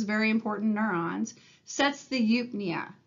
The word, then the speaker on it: eupnea: We can say that the dorsal respiratory group, those very important neurons, sets the eupnea. It's E-U-P-N-E-A, and it is pronounced eupnea.